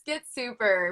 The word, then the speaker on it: Get Super: your instant coffee get is it get super or get some did i say it right yeah it's get super we just removed the e get super um well